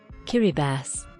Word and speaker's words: Kiribati: Kiribati. That's how this is pronounced?